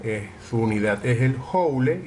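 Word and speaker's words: joule: la energía mecánica de su unidad es el hawley y se pronuncia azul y se representa su símbolo a través de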